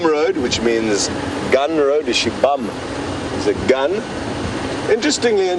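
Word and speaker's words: Xibamu: Shibam is a gun. Interestingly, in Shangaan, XI is pronounced she. So Shibam is spelled X-I-B-A-M-U. Kind of don't really pronounce the U at the end.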